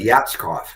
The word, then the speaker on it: Yatskov: You You said it right. Yatskov. Very phonetic.